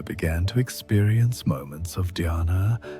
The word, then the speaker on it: dhyana: The ancient texts describe this state of sustained attention as a doorway to what they call dhyana, pronounced dhyana, which is often translated as meditation, but really means effortless awareness.